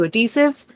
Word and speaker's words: adhesive: Apart from I forgot, I'm slightly sensitive to adhesives, and the place where the adhesive is not a rash, but it's For like the love of irritating. God, can you pronounce the H?